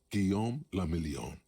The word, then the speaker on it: Guillaume le Million: Guillaume le Million. Who's that? If it doesn't rhyme, you're not pronouncing it right.